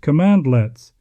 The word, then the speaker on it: cmdlets: At its core, Azure PowerShell uses cmdlets, pronounced commandlets, to interact with Azure resources.